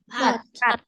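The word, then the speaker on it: 밭: Bat. Bat. Tapi T-nya nggak pakai H ya.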